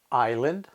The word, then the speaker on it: island: silent which words contain the silence is to either look in dictionary at the phonetic spelling or just to remember them because there aren't that many here are a few examples Island debris rendezvous okay that's all we